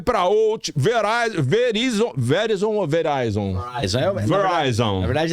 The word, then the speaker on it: Verizon: Verizon. Na verdade é tudo Yahoo. A minha pronunciation...